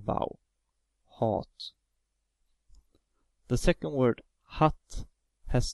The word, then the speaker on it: hatt: The second word hatt has two t after the a, so a is pronounced as the short vowel, hatt.